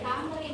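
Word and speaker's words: Thamrin: Ini Tamrin, bukan Tamarin, Tamrin.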